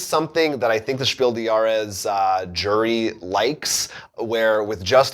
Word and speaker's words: Spiel des Jahres: Said, just to put you ahead of all other English-speaking board game reviewers, the S of the word des, D-E-S, in Spiel des Jahres is pronounced.